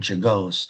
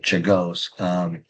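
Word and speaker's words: Czolgosz: William McKinley and Leon Czagos, that's how you pronounce his last name, Czagos, they will most likely appear on your next test.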